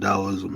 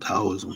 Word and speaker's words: Taoism: the tea in China for some reason T is pronounced as a d yeah but you know he is really a d when I say taoism his Towers but you